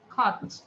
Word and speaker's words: caught: খট। কট বলবো না, আমরা বলবো খট।